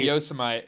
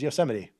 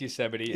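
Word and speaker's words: Yosemite: Um and I learned then and there that it was Yoseite. Uh not how it looks. I I will defend myself. It looks like yosomite. Uh, well, yeah, of course. But it's pronounced yuseity.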